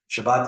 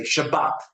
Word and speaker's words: Shabbat: say shabas right that's you see the accents on the sha not the bot right or bas right um while will say shabbat okay now you might